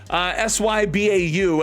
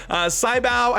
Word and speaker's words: Sybau: S-Y-B-A-U. I'm pretty sure you pronounce this as Sybau.